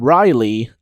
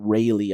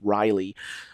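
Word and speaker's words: Reiley: you pronounce it, and Riley, I believe that is how you pronounce it, not Rayleigh, I'm pretty sure it's Riley, with the song Breaking Your Heart.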